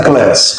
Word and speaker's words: Class: Class. É assim que se pronuncia.